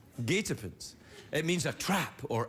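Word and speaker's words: guetapens: year there that that's the winning word it's pronounced gatopens gatopants it means a trap or ambush i thought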